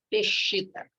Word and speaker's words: Peshitta: A tradução não, a pronúncia dessa palavra, e mais ou menos se fala assim mesmo, Peshitta.